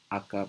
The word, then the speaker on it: Akka: ago it was implemented using Scala language and akka regarding framework that's how you pronounce this thing and one month ago I